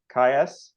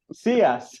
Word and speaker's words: Ciais: we will start uh with Philipe K uh note I already said it wrong uh C CS yes CS who um is a